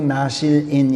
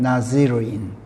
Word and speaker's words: 나지르인: 그런데 우리말 개혁본들은 전부 나실인 이렇게 했어요. 근데 우리는 히브리어 원 발음대로 또 킹제임스 성경이 쓴 그 원음대로 그냥 나지르인 이렇게 옮겼어요.